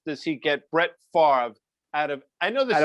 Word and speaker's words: Favre: And the third thing to you is, how the F does he get Brett Favre out of, I know this is the oft-asked question, out of Favre? It's Favre.